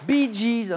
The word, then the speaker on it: Bee Gees: Bee Gees, c'est les lettres BG prononcées à l'anglais.